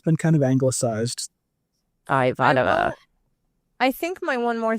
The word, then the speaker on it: Ivanova: Ivanova is the correct way to say it in Russian. Ivanova, but it's but in the in the canon in the cannon of Babylon 5, it is Ivan. It's Ivonova.